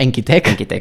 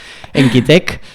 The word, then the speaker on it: Enquitec: No, Enquitec. Enquitec. Ahí la sílaba última Enquitec.